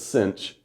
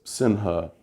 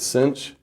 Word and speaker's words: sinh: say this out loud they say it as though there's also a c here everyone says cinch could because sinha just sounds stupid this is usually abbreviated cinch and hyperbolic cosine is